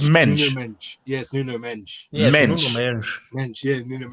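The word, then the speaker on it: Mendes: Um, Nate, definitely not mend as in Portuguese. They said it right. Exactly. So, okay. So, so what is it? So, it's mench.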